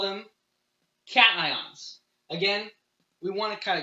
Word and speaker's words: cation: here we call them cations again we want to kind of keep this ion word intact so the way it's spelled it kind of looks like caching but we're going with cation if you are trying